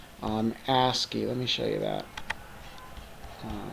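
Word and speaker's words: ASCII: there's this other um uh reporter called um asky let me show you that so it's under a and it's yeah it's AC ACI I which is an abbreviation it's pronounced asy and it stands for American Standard code for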